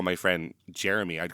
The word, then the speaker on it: Jeremy: I'm like, oh, that's just how I say Jeremy, I guess. But so now I am sure to pronounce it as 3 syllables.